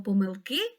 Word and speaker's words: помилки: наголосу на словом помилки слово помилки має один наголос і він падає на останній склад Кажи як треба вимовити